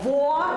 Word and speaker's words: вода: Нині, говорить викладачка, вчаться долати поширене "акання", вимовляючи звук "о" в словах українською. – Будь ласка, чітко "вода", "голова" – правильно. Трошки важко, але губи усе одно треба напружити, бо інакше не вийде "локомотив". На зустрічах відвідувачі розмовного клубу